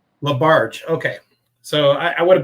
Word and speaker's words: LaBarge: how do you pronounce your last name? LaBarge. LaBarge.